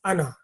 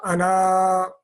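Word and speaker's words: أنا: am and that means me so it is Ana not Anna that is an exception to the rule and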